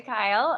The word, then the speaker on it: Keel: everyone um i'm kyle uh my name looks like keel but pronounced kyle and i'd love to